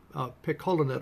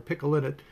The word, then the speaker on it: picolinate: The other item is chromium picolinate or picolinate, depending upon how you want to pronounce it.